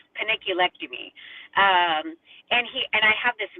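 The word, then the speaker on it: panniculectomy: I always say penilectomy, but I think it's like paniculectomy.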